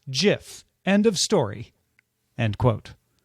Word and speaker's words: GIF: in 2013 he told the new york times the oxford english dictionary accepts both pronunciations they are wrong it is a soft g pronounced jiff end of story end